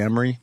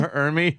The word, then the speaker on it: Ermey: Arlie Emery? Arlie Ermy. Or Emery. How do you say his fucking name? Ermy. Ermy, right.